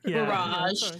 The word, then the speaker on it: barrage: Yeah, and that word is pronounced barrage. Barrage.